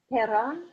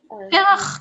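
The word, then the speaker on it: פרח: Perach. Perach.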